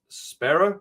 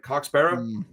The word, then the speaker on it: Sparrer: I'm pretty sure it's Sparrer, like Coxbarra, and we just don't have the right accent to say it right at all.